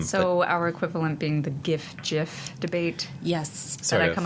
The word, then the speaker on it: GIF: across a lot yes I for obvious reasons come down on the hard G side yes Gil likewise yeah um but uh you the G and GIF is short for graphics Nots definitely a g thing nothing nothing but a